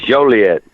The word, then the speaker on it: Joliet: don't really like it he's been mispronouncing is a misdemeanor and Joliet it's not it ain't actually it is Joliet well you may be